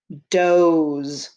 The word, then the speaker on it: doze: d-o-z-e doze d-o-z-e does if you notice there's a silent e or a magic e at the end of the word which makes the o say it's name i'm going to stretch